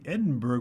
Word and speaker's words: Edinburgh: If you don't say Edinburgh with berg, then it's burr or baru.